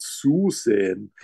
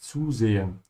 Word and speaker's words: zusehen: And always remember that the Z sound in German sounds like TS.